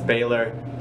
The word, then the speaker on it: Baylor: That's how you say my name, it's Baylor, just for everyone to know.